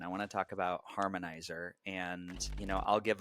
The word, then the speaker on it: Harmnizr: give my 30 second understanding of of harmonizer spelled h a r m n i ZR so if you look up harmonizer and try to spell it like it's spelled you won't find it and so harmonizer is